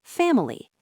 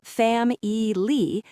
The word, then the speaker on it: family: Take the word family. We do not say fam ei. We stress the first syllable fam. The middle syllable with the letter I gets reduced to awah or sometimes it disappears entirely. family.